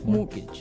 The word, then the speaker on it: mortgage: with a t yeah it has a t in it but you don't pronounce it you say mortgage morgage so not Mort mortgage